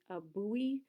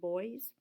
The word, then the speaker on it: buoy: to work hopefully or perhaps you're thinking about a buoy some people pronounce them boys where it's supposed to